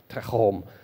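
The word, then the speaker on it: תהום: So the Hebrew word that we translate as the deep is techom. And you got to say it like Jewish, techom.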